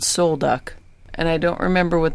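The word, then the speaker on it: Sol Duc: Park there we were at a campground called soul duck and I don't remember what the name means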